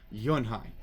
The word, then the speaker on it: Yunhee: Yes, it's pronounced Yunhai. And it means grace, Mr. Kim added. Yunhai, Joey said slowly, and this time perfectly.